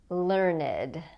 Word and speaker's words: learned: it's not common the next one is learned learned learned is an adjective to describe someone who